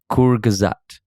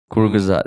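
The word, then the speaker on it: Kurzgesagt: a pronunciation link to the thing and it's pronounced kur gazat kuru gazad and it is uh it means shortly said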